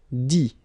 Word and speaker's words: dit: Dit. Okay, phonetically, same thing here. You don't pronounce the final T.